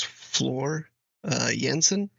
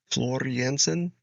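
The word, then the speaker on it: Floor Jansen: guess her name is Flor uh yansen is that I think that's how you say it Flor yansen is probably a better um pronunciation of her name um yeah so excited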